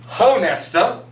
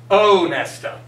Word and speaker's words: Honesta: So, for example, if I have chosen as my name that, my name is not Honesta, my name would be Onesta.